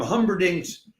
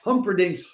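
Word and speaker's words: Humperdinck: opera singers will perform Humbering's uh sorry, I have to do that again because I mispronounced Humpdink. Sunday, August 8th, a troop of upand cominging opera singers will perform Humperink's Hensel and Gretto in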